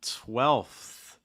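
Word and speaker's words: twelfth: get any easier uh 12th 12th why is this one tricky it's that ending especially for most students going from that f sound that elf to that th let's just kind of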